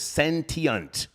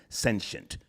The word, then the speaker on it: sentient: The British pronunciation is sentient. The American pronunciation is sensient.